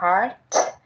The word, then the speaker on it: heart: Cái từ trái tim và cái từ đau đọc giống giống nhau, nhưng mà mình để ý tí xíu thì sẽ phân biệt được trái tim bữa mình đọc là heart, còn làm đau là hurt, và bữa nay mình